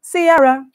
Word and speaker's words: Ciara: and gyration combination announcing duh it's pronounced Ciara Sierra's projection of self